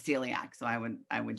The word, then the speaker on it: celiac: then also celiac um it sounds like the word like the letter c or that we see something with our eyes not celiac so it's celiac so i would i